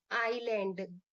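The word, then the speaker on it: island: A group of group of आइलैंड। आइलैंड का क्या होता है? आइलैंड का आइलैंड का ग्रुप होगा। यहां पर एस क्या है? साइलेंट है।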